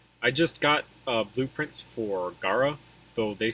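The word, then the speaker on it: Gaara: So I pronounce it Gara because that's how the Japanese pronounce it.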